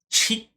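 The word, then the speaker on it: Tchia: We've got a game called Chia. I think it's just Chia. Just Chia. It starts with a T. Maybe? I don't know. Very hard to pronounce. T-C-H-I-A. Chia.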